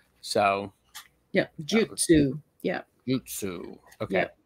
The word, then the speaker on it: Jyutsu: Jutsu. Okay. Yeah. Think of that like J-Y-U, Jew, you know, almost like Jew, like Jewish, but not exactly.